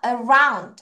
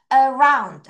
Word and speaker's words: around: 준비 시작 around 한 번 더 around 자 R 발음할 때 around 이렇게 할 필요 없죠. 혀를 살짝만 뒤로 around 다시 around 안에서 굽혀 다시 시작 around 끝까지 해야지 발음 끝까지 around 다시 around around 이렇게 할 필요 없고 자 뒤에 D 발음을 살짝 가볍게 하지만 끝까지 가는 거예요. 다시 시작 around 다시 around 그렇죠.